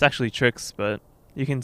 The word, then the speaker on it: TrickZ: here at the clg house joined by uh trick z am i pronouncing it right it's actually tricks but you can say uh you know however